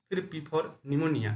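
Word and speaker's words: pneumonia: full form क्या हुआ निमोनिया देखिए निमोनिया पी से शुरू होता है पीस में साइलेंट राहत है और ल का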